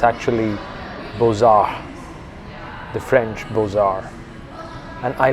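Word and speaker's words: Beaux-Arts: It's actually French. BAR actually is written as Buches Arts. And for the longest time I thought that's how it's pronounced, Buches Arts. But it's actually BAR.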